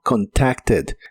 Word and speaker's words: contacted: termina con d y en este caso sí se pronuncia esa e d, pero con la e suave. suena como contacted, contacted y lo puedes usar en ideas como we already contacted customer service.